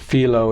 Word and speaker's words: Philo: again I go through would have pronounced it Philo necessarily I don't know that my pronunciation is any better than me all right but I Philo judea's okay that from from there I've been advised that filo is the correct pronunciation is that the Greek